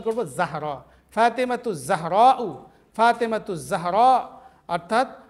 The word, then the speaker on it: যাহরা: তোরা উচ্চারণ করবো জাহরা, ফাতেমাতু জাহরাউ, ফাতেমাতু জাহরা।